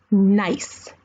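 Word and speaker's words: gneiss: It is called nice. N I C E. That's how we say it. But it is spelled very weird. And that's because it's actually a German word, not an English word. So, it's spelled G N E I S S.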